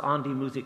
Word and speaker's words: An die Musik: So, An die Musik, is that how you pronounce it?